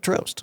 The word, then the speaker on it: Trøst: that has the same name and he said Trøst.